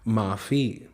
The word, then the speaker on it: माफ़ी: अब यहाँ पे हम फ नहीं पढ़ेंगे क्योंकि फ के नीचे बिंदी लगी है, नुक्ता लगा है, तो इसे बोलेंगे फ, माफ़ी।